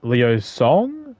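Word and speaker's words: Liu Cong: His son, Liu Song, is how you say his name, went on to succeed him, leaving Liu Bei with the task of guiding the young leader.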